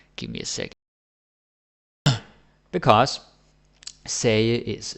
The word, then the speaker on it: sagde: Basically, the D is silent, right? And the G is either silent or it's more like a Danish J or an English Y, right? So say, don't say sagde or sagte or anything like that.